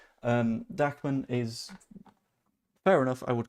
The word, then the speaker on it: Dahmen: Again, this is for the Scum match on Saturday, rather than like Dachman, who is, I think it's spelled Dahmen. Instead, it's just pronounced in a very German manner. Dachman is fair enough.